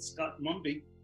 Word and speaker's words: Scott-Mumby: had absolute pleasure of speaking to dr keith scott mumby did i say it right correct yes now